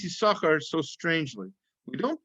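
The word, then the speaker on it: יששכר: the the second sin second letter sin is silent silent sin why is that so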